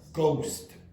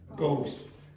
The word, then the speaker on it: ghost: the pronunciation is what? Ghost. Ghost. What is the silent letter? H. H, yeah. Okay, so you don't pronounce the H in that.